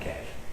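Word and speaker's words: cache: I don't know how do you say that cash okay they didn't show you the messages before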